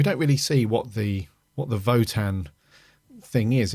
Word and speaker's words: Wotan: It's the German way, Votan. yeah. Pronounced as a V.